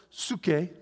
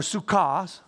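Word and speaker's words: ψυχή: Or suke, or suka, some pronounce it.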